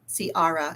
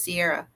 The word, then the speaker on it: Ciara: me my daughter's name Ciara and that's exactly the way my dad would say it her name is Sierra but he would always call her Ciara I was like can't